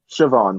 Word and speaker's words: Siobhan: Siobhan, like Shavon.